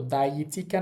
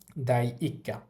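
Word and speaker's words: 第一課: তো দাইচিকা না হয়ে হইছে কি? দাইক্কা।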